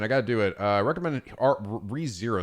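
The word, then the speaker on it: Re:Zero: Is it pronounced ReZero or is it like RE0? Or ReZero? ReZero, okay.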